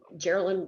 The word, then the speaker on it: Geraldine: Geraldine rhymes with Maryland, and is like hamburger, so it's a tough one to know, but that's how you say it.